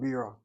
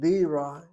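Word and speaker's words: בירה: Why is it accented? This is unusual to have an accent over a regular syllable like this. Should it not be the last syllable? And the explanation is there's another word in Hebrew spelled the same way where we accent the second syllable and not the first.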